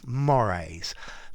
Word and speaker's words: mores: Okay, so mores. Please notice the pronunciation.